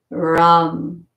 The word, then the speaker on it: Ram: Lam, Vam, Ram, Yam, Om, and then this is silent. Lam for the root chakra. V-U-M, Vam for the sacral. Ram, R-A-M for the solar plexus.